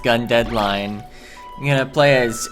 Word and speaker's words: GundeadliGne: hello cler gun deadline just ignore that big G in the middle of the word line it's pronounced gun deadline I'm going to play